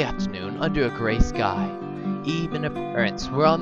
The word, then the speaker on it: Ib: Yes, pronounced Ebe. I-B. Really simple. Really easy to follow along, just Ebe.